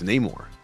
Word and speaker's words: Namor: They say, you know, you say it wrong. It's not Namore. It's Neymar.